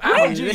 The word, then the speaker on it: Algee: He said Algee. Is that the way? No, it's Algee. Exactly. You didn't know. I did know. Algee. Where does the name Algee? Where does the name Algee come from?